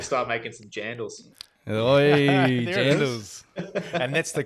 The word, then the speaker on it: jandals: Oi, jandals. And that's the correct pronunciation.